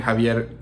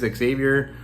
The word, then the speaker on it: Xavier: Francis Javier Gordon right but I actually think Francis Xavier is probably the right way to say it because Francis Xavier is the name of a French Saint I think um who was from from Xavier the the place right so it is what